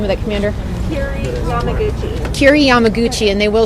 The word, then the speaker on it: Yamaguchi: Yamaguchi, Yamaguchi, and she is a commander.